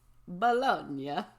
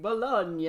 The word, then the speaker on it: Bologna: It is a sausage derived from the Italian mortadella, a similar looking finely ground pork sausage named after the city of Bologna.